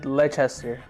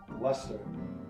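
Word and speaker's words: Leicester: of close Okay ler Final Answer le le leester God this is's going to be weird leester leester leester it's pronounced Lester Lester Le Lester Lester that makes sense that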